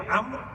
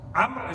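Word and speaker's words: عمرو: Amr is written Ayn Mim Ra Waw. There's one more letter at the end of the name Amr in Arabic that's not pronounced.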